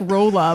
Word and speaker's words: Rolla: no we're all out it looks like Rolla by like rock and roll oh yeah yeah totally